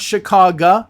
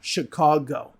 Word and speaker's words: Chicago: Not Chicago, Chicago.